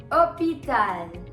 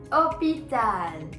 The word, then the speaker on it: hôpital: Hôpital. Hôpital. Now remember one thing. H as a letter has a pronunciation ash. But when it comes to words, H is always silent.